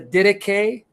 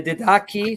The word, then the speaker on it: Didache: if you go to the Didache or the Didache, some pronounce it, you'll find there that